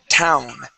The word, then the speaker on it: town: right before your teeth so you say Town town okay so you see how my tongue is touching I'm not touching my teeth I'm touching the top of my mouth town try that town good that's